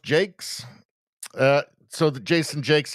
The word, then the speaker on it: Jacques: Rosie says Jacques pronounced Jake. Uh so the Jason Jakes. Yeah I thought it was Jacques at first too but it actually is pronounced Jake.